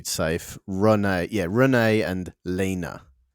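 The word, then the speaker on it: Lene: I think I want to say I want to say Lena.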